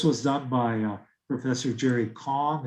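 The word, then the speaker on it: Kang: done by professor jerry kong it looks like kane but it's pronounced kong at the ucla and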